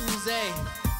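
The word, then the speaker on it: Oozie: Double O-Z-I-E, it's not Uzi, it's Uze. Say it like you're French.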